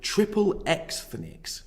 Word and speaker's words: Triple Ethnics: The following is taken from an essay called Triple Ethnics, Jews in the American Porn Industry. And yes, I did pronounce that correctly. Ethnics is a play on the word ethnic and X-rated.